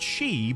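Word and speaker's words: 四: The number 4 can also be pronounced she, but yon is preferred in most contexts because she sounds like the word for death. Oh, right, okay.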